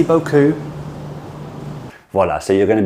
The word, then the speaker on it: beaucoup: English speakers, we don't really, depending on where you're from some regions you will have this sound, but depending on where you're from, a lot of people do not have the OU sound in French.